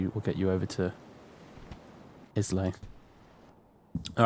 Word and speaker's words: Islay: Islay is pronounced Isla.